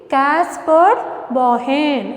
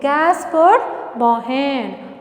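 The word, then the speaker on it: Caspar Bauhin: How you have to pronounce? Say with me, Caspar Bohen. I repeat, Caspar Bohen.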